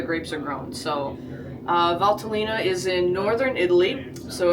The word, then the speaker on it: Valtellina: And uh today we're going to learn a little about Valtalina. Valtalina.